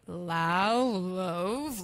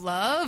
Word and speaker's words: Lauv: And I was like, Lauv, love. Like I At pronounced it like first, 3 different ways.